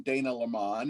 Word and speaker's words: Dana LaMon: you did get my name right i am dana lamont and you pronounced it correctly i am in lancaster california